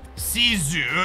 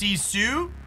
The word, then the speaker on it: Sisu: sixth Captain Marvel boosters see zoo is how it's pronounced sisu sisu yeah I'm excited for